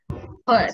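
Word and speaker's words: heard: এখানে বলার এখানে লেখা আমরা এভাবে বলবো হার্ড কিন্তু হিয়ারড বলবো না আমরা বলবো হার্ড হার্ড এভাবে বলছেন হার্ড হ্যাঁ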